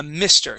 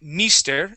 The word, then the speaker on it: mister: uh first off uh mister you are saying Mis using a long e sound okay that is M Mister with a short I try that please Mister